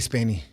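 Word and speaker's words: Spaeny: what's up Garcia um I love uh Kaylee spany I she is did I pronounce her name right yeah is she's a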